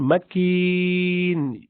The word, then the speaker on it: مكين: And makin, because you're stopping here, and the second last letter is silent ya, or inactive ya. So you have to do maddul arid lis sukun, which is you're prolonging it because you're stopping here. If you didn't stop, you wouldn't prolong it.